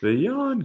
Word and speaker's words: jawn: call it the john yawn coin what the j-a-w-n yes but you say you say it like uh like that song from ferris bueller or like john you got nothing